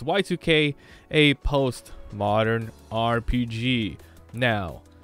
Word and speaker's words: YIIK: today's game I played y2k that's how it's pronounced even though it's spelled Y iik the two eyes are Roman numerals for two that's just the developers choice so it's y2k a post modern RPG